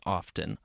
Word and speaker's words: often: about the word often notice how I pronounce the T in often I've even had my students tell me that I'm pronouncing it wrong let's start there I'm